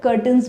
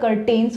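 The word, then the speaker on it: curtains: कई बार यहाँ पर कर्टन्स भी लगे होते हैं, जिसको मैं काफ़ी टाइम तक कर्टेन्स प्रोनाउंस करती थी, तो याद रहे आप ये मिस्टेक ना करें. इसकी सही प्रोनाउंसिएशन है कर्टन, कर्टन्स.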